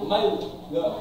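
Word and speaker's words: من لا: Jadi dibacanya bukan man la, tapi mal la.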